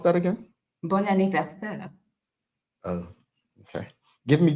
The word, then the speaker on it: Bon anniversaire: And bon anniversaire, Maya, is French, and it is a happy birthday.